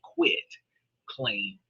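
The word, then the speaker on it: quitclaim: I quit claim deed, not a quick like fast claim deed. And people pronounce this wrong thinking, oh, it's it's a fast claim to a deed.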